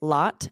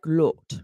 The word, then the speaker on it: lot: So words like lot and rod are pronounced with an unrounded vowel in English. So it sounds like ah, ah. Whereas in some countries, it would be like lot, lot, or rod, right? It's a rounded vowel.